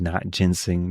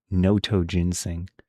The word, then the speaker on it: notoginseng: Oh, wait, was I I was pronouncing it wrong the whole time. I thought it said not ginseng, but it's notoginseng.